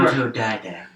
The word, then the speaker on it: autodidact: I have trouble saying that word, but I know I was mispronouncing it. Right, we were trying to figure out how to pronounce autodidact. Anyway, autodidact. So it's one of those